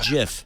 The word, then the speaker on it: GIF: the graphics interchange format G Graphics interchange it's pronounced GIF G the graphics The giraffic Interchange format well